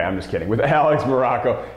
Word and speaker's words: Maroko: just kidding with Alex Morocco pronounced just like the country spelled absolutely nothing like it now look talked about